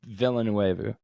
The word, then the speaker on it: Villeneuve: i'm so how do you say his name villanuevo i believe so i believe it's denis villeneuve where's he from where is denny from denny